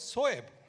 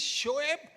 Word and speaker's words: Shoaib: And for Shoaib, it was always Soeb. And in the change room, I would keep on saying, Murli, it is Shoaib and it is Sehwag.